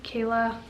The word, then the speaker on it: Kala: Courtney Kayla, but it's spelt Kala.